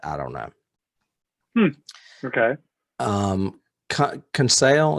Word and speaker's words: Conseil: don't know okay um conceal is how you say it conceal conceal it's uh peter